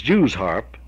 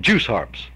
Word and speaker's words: Jew's harp: It is Jew's harp, J-E-W-S harp, but I think any Kentuckian or most any country boy would call them juice harps.